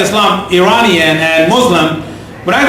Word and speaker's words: Eslam: my name is Islam well it's actually Islam but it's mispronounced by Americans as Islam whether it's Islam or